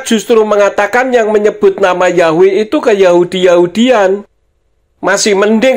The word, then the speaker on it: Yahweh: YHWH itu transliterasi atau hurufnya. Membacanya Yahweh.